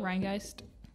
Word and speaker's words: Rheingeist: Rheingeist.